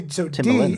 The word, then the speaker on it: Timbaland: So you'd say Timbaland. D, although it's spelled the same way.